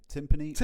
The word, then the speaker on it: timpani: Anyway, so yeah, timpani rhymes with Limp Knee.